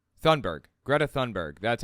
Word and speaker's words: Thunberg: How to pronounce Thunberg. Greta Thunberg.